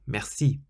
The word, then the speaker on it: merci: Always emphasize the last syllable, and you'll instantly sound more French. So we've just said the word merci means thank you or thanks, and you stress the last syllable, merci.